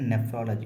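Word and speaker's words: nephrology: of clouds மேகங்கள் தென் நெப்ராலஜி இதுக்கும் அதுக்கும் ஒரு சின்ன மாதிரிதாங்க சேஞ்ச் ஆகுங்க அதை நம்ம வந்து நம்ம உச்சரிப்பை பார்த்து உச்சரிக்கணும் நெப்ராலஜி அப்படின்னா ஸ்டடி ஆஃப் டிசீஸ் ஆப்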